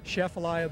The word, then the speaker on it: Atchafalaya: the chef's allow a basin one more time chef Alya Basin that's the correct way of saying it